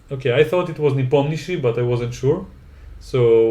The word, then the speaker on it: Nepomniachtchi: Nep, I already told you how Nep- to pronounce it. I shouldn't have. Niptomnishi? I should have let you try. Nepomniachtchi.